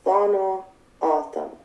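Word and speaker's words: Tohono O'odham: The common pronunciation is Thono Autumn.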